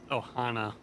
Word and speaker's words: Ohana: I'm pretty sure it's pronounced Ohana, and he spelled And it that wrong.